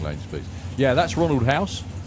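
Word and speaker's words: Huis: please yeah that's Ronald house it's funny actually because his name is spelled h-u-i-s yeah he's obviously the dust version as I said to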